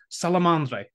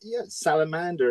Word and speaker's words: Salamandre: than this but uh he just told me salamandre am a closer salamand yeah it's salamander if you like Salander so it's